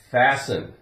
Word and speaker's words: fasten: encounter here we go we have fasten now we have Sten if we took off if we took off the Ian we'd have fast fast and we'd pronounce the T fast F now we have